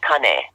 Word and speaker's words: Kane: hawaiian ties growing up his name is actually Connie well that is so cool did you do